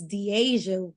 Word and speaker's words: Deasia: uh the Asia wouldn't she always says I say it wrong but it's Deasia would would tend I